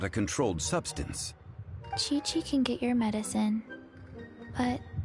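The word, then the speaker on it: Qiqi: I am Chi-Chi. Chi-Chi. Okay. Once upon a time, Chi-Chi died. Then, Chi-Chi was saved by the Adepti. Now, Chi-Chi is a zombie. Chi-Chi.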